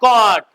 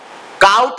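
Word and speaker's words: caught: से काटना catch कॉट कॉट catch कट कट catch कॉट कॉट catch मीस catch मीस काउट नहीं पढ़ना कॉट है क्या है कट क्या है कट कॉट नॉट काउट child चिड चिन चाइड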